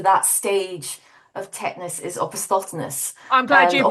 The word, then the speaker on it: opisthotonos: technical term for that stage of tetanus is opisthotonos, I'm glad and you pronounced it.